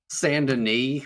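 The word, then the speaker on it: Saint Denis: in Red Dead like all say like Sandin, which is like stuff like the most French name ever. Like they say it correctly. I feel like if you were a cowboy, you'd say St. Dennis.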